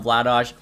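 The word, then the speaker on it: Vladař: of people don't understand why I call him Vlados I looked up had to pronounce his name in check which is obviously where he's from and it's pronounced Vlados so hopefully people can stop giving a hard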